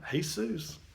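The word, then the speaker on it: Jesús: Seuss what are you talking about by the way it turns out in some languages what we see spell j esus they actually pronounced hay-soos who knew I don't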